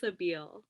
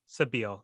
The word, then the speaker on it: Sabile: All right, Clarissa, to clarify, how do you pronounce your last name? It's Sabile. Sabile.